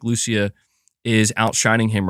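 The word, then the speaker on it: Lucía: GTA 6 Jason and Lucia and um saying in Spanish it's Lu okay okay so so I I am the the third way I pronounced it was the correct way Lucia gotcha gotcha you know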